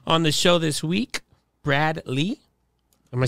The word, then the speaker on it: Brad Lea: the show this week Brad Lee am I saying it right you ain't lying yeah I've been calling you since I've been following you Brad Leia is the a silent how did like until